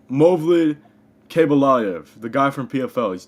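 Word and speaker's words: Movlid Khaybulaev: Hank, how is Mavlid, how do you say his name? Movlid Kabalayev, the guy from PFL.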